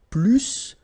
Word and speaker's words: plus: And so the last structure, if you want to compare with a verb, then in that case, remember, plus will be with the S. So pronounce it plus que.